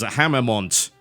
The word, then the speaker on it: Haemimont: way not the originals I believe the way you pronounce the name I'm probably horribly wrong here is hammont it's published by Calypso